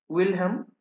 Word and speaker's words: Wilhelm: এবার খালি একটা জিনিস লিখে নেবে, আমি বানানটা বলছি, WILHELM, ঠিক আছে? উইলহাম, DILTHEY, ঠিক আছে?